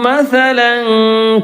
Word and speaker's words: مثلا: 24 അലം തറ കൈഫ ളറബല്ലാഹു മസലൻ കലിമ. മസലൻ തൻവീൻ്റെ ശേഷം ഒരു അലിഫ് കാണുന്നുണ്ട്, നമ്മൾ ഉച്ചാരണത്ത് വരുന്നില്ല.